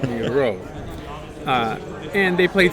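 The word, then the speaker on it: Miró: Accent on the O, so it's Miro.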